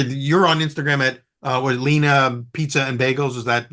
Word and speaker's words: Lena: So you said Lena, you pronounce it Lena.